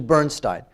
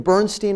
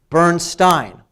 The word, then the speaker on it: Bernstein: Though we should probably pronounce it the way his family pronounces it, and that would be Bernstein.